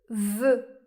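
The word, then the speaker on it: vœu: Ou bien O E U comme dans le mot voeu.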